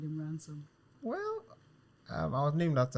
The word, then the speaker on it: Ransom: Like, ransom as in like, I'm going to ransom someone, ransom. Yes, exactly. Ransom.